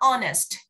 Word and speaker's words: honest: Từ này âm hát bị câm mình sẽ đọc là honest.